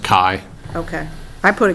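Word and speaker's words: Kaj: my name is uh spelled k a j and it's pronounced Kai okay I put a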